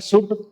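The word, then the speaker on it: should: इनको एल को साइलेंट रखना, यानी ऐसे नहीं बोलते आप शुड, वुड, कुड, इसको बोलना है शुड, वुड, कुड, यानी एल साइलेंट रखना।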